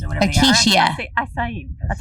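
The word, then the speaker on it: açaí: Like, remember how it's expensive acacia bowls or whatever Acacia. they are? Acai. That's how they. How do you say it? This lady said acacia bowls. Acai bowls. That's how you say it.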